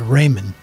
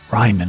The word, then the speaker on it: Ryman: night we went to Raymond Ryman I should say I better say it right now since I've been